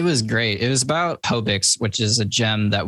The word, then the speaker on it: Hobix: Hobix. Hobix. Okay. That's what I thought. In my head, I thought I heard you say Hobix, and I was like, wait a second.